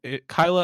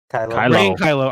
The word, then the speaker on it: Kylo: we already knew but like ray and kyle kyla uh kylo i'm saying it right kiss so that's even